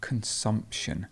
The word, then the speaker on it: consumption: then you would have consumption and the stress moves here so you have